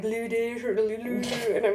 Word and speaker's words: Ludaescher: it, and they're like, Ludaescher, Lulu, and I'm like, okay, pretend the E and the C aren't there. So Ludaescher.